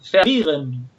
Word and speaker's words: verwirren: ejemplo, en alemán es pervirren. Se los estoy tratando de pronunciar con pronunciación más cercana a la española, pero lo pueden comprobar también. Verwirren.